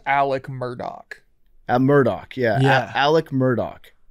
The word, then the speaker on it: Murdaugh: He says Alec Murdaugh.